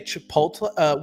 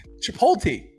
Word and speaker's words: Chipotle: Chipotle. They put the L before the T.